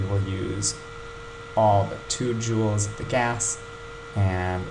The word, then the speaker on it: joules: amount that's called jewels it's spelled like this but pronounced like jewel you know like a diamond or a ruby um so 10 joules and let's say the